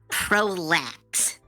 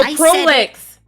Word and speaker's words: Prolix: Prolax. No, Prolix.